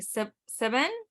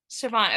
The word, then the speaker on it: Siobhan: with partner and co-owner, I'm not going to pronounce this correctly. You're going to have to tell me. Siobhan. Siobhan.